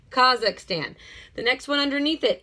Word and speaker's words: Kazakhstan: fun up there okay do not miss pronunciate it and call it Kazakh Stan there is not another a no matter what people say kha'zix tan the next one underneath